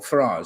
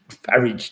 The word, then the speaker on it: Farage: Neil Farage said you pronounced his surname to rhyme with the place you keep your car. So he'll always be Farage to me.